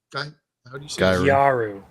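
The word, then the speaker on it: ギャル: Gyaru.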